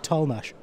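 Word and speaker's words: Tollemache: with a double-barrelled name which was spelled tol l e ma CAG - the same spelling but despite the fact that the two names were spelt the same there were pronounced differently so the father's name was to make tal mash that was a really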